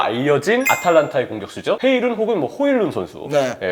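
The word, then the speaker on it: Højlund: 아탈란타의 공격수죠 해일은 혹은 호일룬 선수 본인 발음은 호일룬 선수가 맞다는 얘기도 있긴 하더라고요 호일론 선수까지이 생각을 했을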